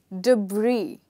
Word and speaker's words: debris: The next word is debris. Yes, you heard me right. Here, S is silent.